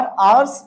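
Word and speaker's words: hours: last तू स और अवर्स बोलते समय हा बिल बी साइलेंट हर हा को नहीं बोलना है और लास्ट का मतलब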